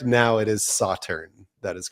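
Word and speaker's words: Sauternes: In the intro to the episode, you didn't quite say it right. I was like, oh, we'll get to this, I'm sure. Did I say Sauterne? Yeah, you'd put the A on the end.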